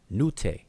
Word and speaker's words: Netcher: And to give you an example, like the word that we pronounce Netcher, which is the word for deity or God, in Coptic they pronounce it Nute.